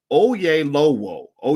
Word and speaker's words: Oyelowo: actor is oh ye it's spelled o y e l o w o that sounds like oh yay low o yeah low o o